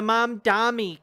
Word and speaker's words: Mamdani: They can't fucking say his name. What's wrong with you? The Mamdani campaign. To address it. Andrew Cuomo. There's a goddamn N in his name, man.